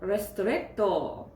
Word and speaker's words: Ristretto: Cafe and Intense Cafe Ristretto. I think that's how you say it. You have to say the strt and the to, so two T's, just like that.